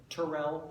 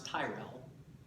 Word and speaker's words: Tyrell: watched Game of Thrones if you listen carefully sometimes you'll hear Tyrell sometimes Tyrell sometimes you'll hear dick on or dig in so and certainly some